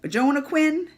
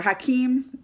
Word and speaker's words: Joaquin: I always get his name wrong. Is it Hakeem? I have to get it wrong at least 2 times before Hakeem comes to me. So Hakeem Phoenix. Why can't he just spell it like a Hakeem? Like why can't it just be Jonah Quinn? Like it's spelled?